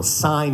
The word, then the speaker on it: syne: So sign, not sign.